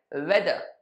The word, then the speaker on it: whether: I said वेदर.